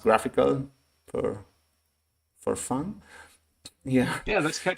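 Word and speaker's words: GraphiQL: called graphical graph iql I think it's pronounced graphical for for fun yeah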